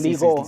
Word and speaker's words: LIGO: Por pronunciación en inglés, LIGO, sí, LIGO en español, sí.